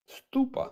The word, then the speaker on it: stupa: gota be honest I don't know how to pronounce that is it stupa how is it no it's stupa sure stupa so those two you're picking these